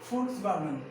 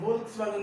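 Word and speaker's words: Volkswagen: फोक्सवैगन, क्या इसे पढ़ता है वोल्क्सवैगन नहीं, वोल्क्सवैगन नहीं, इसे फोक्सवैगन, क्या इसे फोक्सवैगन, और क्यों क्यों पढ़ते हैं, कैसे पढ़ते हैं, उस विदेश की भाषा है, क्या है, इट्स अ फॉरेनर लैंग्वेज, क्या है, इट्स अ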